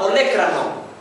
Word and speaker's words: olécrano: porción vertical se llama olécrano tiene mucha dificultad la mayoría pronunciar esta palabra oan o leanan no sé qué cosa dice olecrano inferiormente al olécrano se